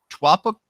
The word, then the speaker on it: Taupo: then a trip over to New Zealand in Taupo? Am I pronouncing that right? I think I'm pronouncing it right. Taupo.